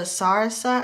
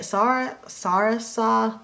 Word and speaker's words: Sarasa: using this pen here, and this is a Sarasa, I think. Sorry. I think that's how you say it. Sarasa, that's how I say it.